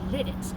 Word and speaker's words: Lititz: So, I says to myself, I'm going to get my car and I'm going to go to Litt. Now, it ain't pronounced lit.